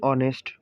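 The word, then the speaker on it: honest: যেমন an hour, an অনেস্ট ম্যান। বন্ধুরা, এখানে কিন্তু আওয়ারের মধ্যে এইচ রয়েছে, কিন্তু এখানে ওর উচ্চারণ হয়েছে। তারপরে অনেস্টের মধ্যে এইচ রয়েছে, এখানেও ওর উচ্চারণ হয়েছে। এইচ দুটো কিন্তু এখানে সাইলেন্ট রয়েছে।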